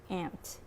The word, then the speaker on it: aunt: Like for example, A-U-N-T is pronounced ant in California, but it's pronounced aunt on the East Coast.